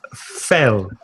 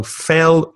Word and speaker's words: fell: Past of fall is fell, eh. So fell rhymes with tell and hell.